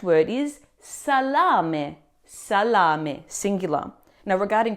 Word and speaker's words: salame: Now, regarding pronunciation, the a in the first syllable is a clear open a sound. s not sir and the final e is never silent as we saw earlier with gratia. It's a crisp me sound.